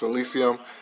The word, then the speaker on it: Elysium: in front of you guys but he is Elysium I already saw this movie a while back